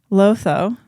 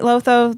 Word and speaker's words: Lotho: But yeah, we meet Lotho this chapter. He's their son. He kind of just follows his mom around while she's being a Karen. Terrible name. Lotho. about that. But it rhymes with Otho.